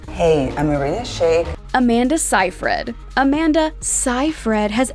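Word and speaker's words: Shayk: woman herself arena shake think shake like the word handshake and you'll nail this model's last name professionally called arena shake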